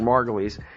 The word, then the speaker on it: Margolis: It's spelled like Margolis. I think probably sometimes I say it wrong because I'm just not thinking. It's Eric Margolis.